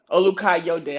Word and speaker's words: Olukayode: your last name u u ukai de I've knew you for like how long now